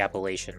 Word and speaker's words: Appalachian: I was talking about the Appalachian Mountains.